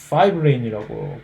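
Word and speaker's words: fibrin: 원래 피브린이라고 하는 영어로 파이브린이라고 발음을 하는데 그다음 피브리노겐은 파이브리노전이라고 이름이 조금 파이브리노전이 활성화가 되면 파이브린이 되거든요.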